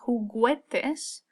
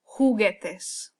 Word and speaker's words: juguetes: notice that it's not juguetes, but rather our U, all our U does is make that G a hard G sound. So juguetes, toys.